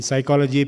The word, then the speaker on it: psychology: In psychology, P is silent.